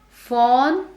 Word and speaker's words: phone: Now again, phone is one word that people mispronounce to a great extent. They say, I'll pick up the phone. Fawn is F-A-W-N, and that is a color. Whereas that phone which rings is not fawn but O sound.